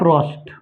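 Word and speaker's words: Proust: किया कौन साइंटि Joseph रोस्ट Joseph रोस्ट प साइलेंट जोसफ रोस्ट हो गया जोसफ रोस्ट प आ ओ प आर ओ यू एस टी प होता साइलेंट जोसेफ रोस्ट ने कहा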